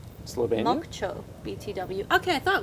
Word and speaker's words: Slovenia: it so funny doberan from slov Slovenia it's pronounced Slovenia moo BTW okay I thought it was moocho